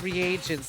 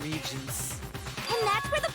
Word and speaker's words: reagents: variety of leaflets oh it's pronounced reagents not regions poison came from section